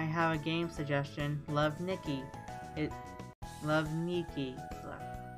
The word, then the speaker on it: Nikki: And I know people were comparing the Cocoppa dolls to Love Nikki, and I want to make sure that I'm pronouncing it correctly, because I always want to say Nikki, but it's Nikki.